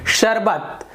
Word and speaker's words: शरबत: उसी प्रकार से शरबत, शरबत, ये गलत हो गया, शरबत सुनने में अच्छा लगता है।